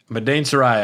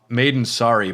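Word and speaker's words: Madain Sari: Madain Sarai. I much prefer your pronunciation of that. I was calling it Maiden Sorry, but Madain Sarai is a little more fantastical.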